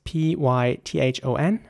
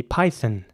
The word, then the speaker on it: python: ideal next word is p-y-t-h-o-n and in British English it would be python this time the O is you know like a almost not pronounced it's python the python yeah